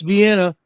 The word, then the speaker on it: Vienna: I do say Vina, not Vienna. How do you say Vienna sausage, John? Do you say Vienna or do you say Vena? I know it's Vienna, but I know we always said Vyena sausages when I was a kid.